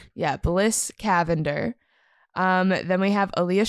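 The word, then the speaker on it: Cavendar: It's It's Lavender with a C. Cavender. Cavender.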